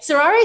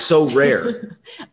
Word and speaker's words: Sorare: been through things sarah i think that's how you pronounce called so rare wow wow nicholas did you hear that nicholas did you hear that sorari sounds much more exotic no so rare no it's so rare right it's literally s-o-r-a-r-e